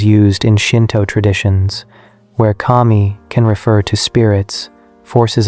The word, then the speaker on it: kami: The pronunciation in Japanese is kami, which is the standard word for god or deity.